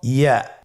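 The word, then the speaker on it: ي: ইয়া উচ্চারিত হয় জিহ্বার মধ্যখান তার বরাবর উপরে তালুর সঙ্গে লাগিয়ে উচ্চারিত হয়।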